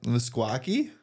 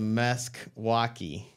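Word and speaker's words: Meskwaki: differentes yeah the fox yeah msaki no they're called the mque walki m s k w a k i I'm assuming oh it's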